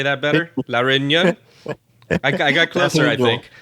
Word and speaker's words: Réunion: La Réunion?